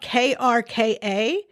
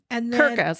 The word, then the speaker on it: Krka: was Okay, it's spelled k r k a and it's pronounced No, I can't roll my r so you're just going to have to forgive me. Krka. Yeah. Krka's how an American would say it.